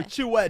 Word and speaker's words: Chue: Yeah, so Chue does work. It's not really way, it's more of an E, but like an EH. But yeah, that does work.